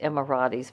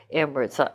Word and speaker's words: Emirates: Some people pronounce it Emiratis, but I say Emirates. I hope that's right.